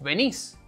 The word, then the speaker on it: venís: most of the cases, the verb is in a different form, which accentuates the last syllable. So, instead of tú tienes, it's vos tenés, as in vos tenés hambre, tú vienes, vos venís.